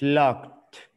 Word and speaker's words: locked: All right, so, let's change roles, just, it's locked. Locked. No lock it. Lock. Suena como una, no, no suena esta, la E, but sounds the D, locked.